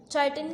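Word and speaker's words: chitin: चाइटिन काइटिन की 2 pronunciations आप कोई भी यूज़ कर सकते हैं, तो इसकी वजह से इसमें भी एतराज़ आ गया।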